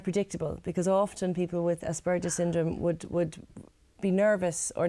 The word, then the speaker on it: Asperger's syndrome: Is that, Yeah, that's how yeah, it's pronounced that's properly? Asperger's syndrome, yeah, that's who I'm working with at the moment.